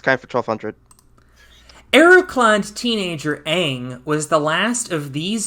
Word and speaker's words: Aang: Arrow-clad teenager Aang was the last of these supernatural humans in a Nickelodeon series. Collin. Or the airbender. And thankfully I pronounced his name correctly and it's not Ong.